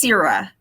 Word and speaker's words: Cira: It's how do you pronounce it? It's Cira. Cira.